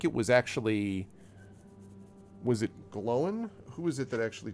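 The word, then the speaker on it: Glóin: Glowin. Gloin. That's how I've always heard it pronounced in English. Glowin. Oh, okay. There's an accent on the I Mhm. to emphasize it.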